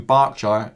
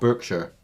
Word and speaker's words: Berkshire: And it's from Berkshire, not Berkshire. Because no one likes to call Berkshire. Look it up, it's actually pronounced Berkshire.